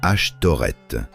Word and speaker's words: Ashtoreth: Son nom dans la prononciation hébraïque, Ashtoreth, c'est une distorsion intentionnelle. Les éditeurs hébreux anciens, enregistrant les noms des dieux étrangers, parfois remplaçaient les voyelles, insérant à leur place les voyelles du mot bosheth, honte. Ainsi, la prononciation même du nom devenait une moquerie.